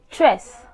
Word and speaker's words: tres: Number three is tres, tres, T-R-E-S, tres, tres.